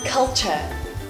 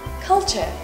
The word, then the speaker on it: culture: Ah, culture. The letter L is pronounced as L and not a N, like many Vietnamese students do. So we have culture instead of culture.